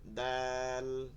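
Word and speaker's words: دال: দ বল বলতে পারেন ওই উচ্চারণের সাথে লাম উচ্চারণ হয় নেওয়া যাবে না নাই শুধু বললেই হবে দাল দাল দাল দাল তা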